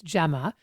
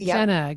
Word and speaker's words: Gemma: So, um, because people have never been able to pronounce my name properly. It's Gemma, but I get Jenna, GMA, Gina.